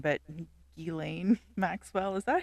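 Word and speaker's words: Ghislaine: never know how to say her name but gilain Maxwell is that how you say it is it gain J up jiz it's galain jiz it up her her father created like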